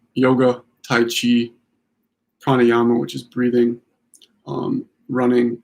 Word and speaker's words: Qi: I'll put it down here, but it's either spelled Qi. That's pronounced Chi.